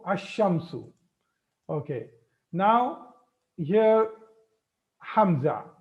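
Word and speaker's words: الشمس: Okay, so now this shadda is making this lam silent, or the lam is not pronounced. So these two categories are made. All the Qamari letters, in all the Qamari letters, lam is pronounced, and in all the Shamsiyah letters, lam is not pronounced. I hope you understood this. Lam is not pronounced. So ash-shamsu.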